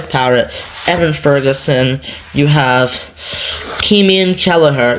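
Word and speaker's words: Caoimhín: You have Keeman Kelleher. It's pronounced Keeman. I don't speak Irish Gaelic, but it's pronounced Keeman.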